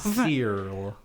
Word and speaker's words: Serle: Serle. Rebecca Serle. Yep. That is a normal name to say. That is how you pronounce that.